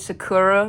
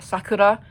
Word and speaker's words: Sakura: I also just realized I said Sakura like how Americans pronounced Sakura, like the restaurant. I'm pretty sure you say her name like Sakura.